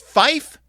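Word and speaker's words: five: In NATO radio telephony, 5 is pronounced fife to avoid confusion with similar sounding words.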